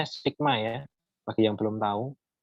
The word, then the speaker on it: sigma: Ini E ini dia bacanya sigma ya.